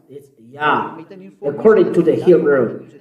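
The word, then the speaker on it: יה: Yah. According to the Hebrew. When you see this word, it is read Yah in Hebrew.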